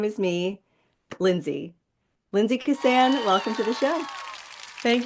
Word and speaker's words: Keosayian: It's Lindsay and I know it's Keosayian, but it's spelled Keosayian.